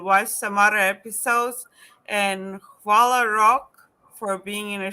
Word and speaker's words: hvala: So Hvala. I have to like, wait, Hvala. hvala. Yes. Okay, I'm going to say to the viewers first, follow for watching. Please subscribe and watch some other episodes. And hvala Rok for being in the show today and